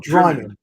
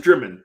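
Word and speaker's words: Drymen: Drimmen or Dryman? Okay, it's pronounced Drimmen.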